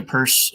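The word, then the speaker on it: Peirce: spell it wrong but it looks like Pierce but it's not Pierce this isn't shame he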